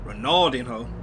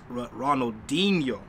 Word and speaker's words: Ronaldinho: Nobody killed me for this in the comments, but I was calling him Ronaldinho.